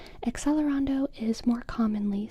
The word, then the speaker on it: accelerando: word in music class, we pronounce it accelerando. But then I remember um one day in or that was how it was always in elementary school. And then when I got to high school, there were some kids who started pronouncing it A chelerondo. A celerondo. There was accelerando. There was aelerondo. And both were according to my high school professor correct.